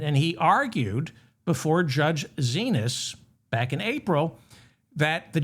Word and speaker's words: Xinis: It's Xinis. I think it's pronounced Zenas.